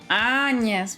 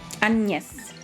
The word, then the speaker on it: Agnes: of the main characters' name is Agnes, with the French pronunciation. Oh, you're right. You're right. She's called... Yeah. I played that one. Probably not until the end, but still. Agnes.